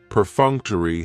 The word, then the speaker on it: perfunctory: Perfunctory has 4 syllables, and the stress is on that second syllable, that funk. Perfunctory. That third syllable has the schwa, and it's going to end with that long E sound. Perfunctory, perfunctory. If something is perfunctory, it